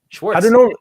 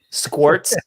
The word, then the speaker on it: Schwartz: How do people normally say it or mess it up? Schwartz. Schwartz? Yeah. Schwartz. A lot of people say that. I mean, but I think nowadays people can do it. Schwartz. I never even thought. I mean, I just read the letters. And yeah. Squirts. I've heard squirts.